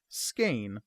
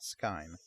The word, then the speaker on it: Skein: It is pronounced Skein, not Skein.